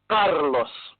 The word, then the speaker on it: Carlos: Roll that R. Carlos.